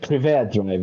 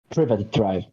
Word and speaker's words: Privet Drive: Or no, you got wrong because you said Privé Drive, right? It's Privet. Yes, it's Privet. Privet Drive. No, no, Privet. Yes, you pronounce the T.